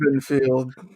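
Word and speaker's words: Bittenfeld: It rhymes with Garfield. Black Lantern Bittenfield rhymes with Garfield.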